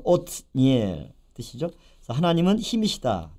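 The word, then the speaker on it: 옷니엘: 온니엘, 오츠니엘. 그래서 엘은 이제 엘로힘의 약자 하나님이 되겠고요. 오츠 힘 또는 전진 그런 뜻이죠. 그래서 온니엘 히브리어 발음은 오트니엘 뜻이죠.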